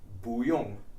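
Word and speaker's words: 不用: my pronunciation I'm saying boo Yong where boo has a rising tone boo usually has a falling tone boom but when it precedes a fourth tone syllable like young it changes to a rising tone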